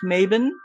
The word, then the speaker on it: Mabon: it which is called maben so maben is the Scots uh pronunciation of mabon the modern Scots pronunciation and there's also a